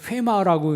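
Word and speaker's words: ῥῆμα: 헬라어로 원래는 이제 회마라고 읽는데 영어로 표현하면 레마입니다.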